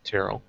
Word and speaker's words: Tyrell: but anyways well my name is said like daryl with a t tyrell sorry carol sorry man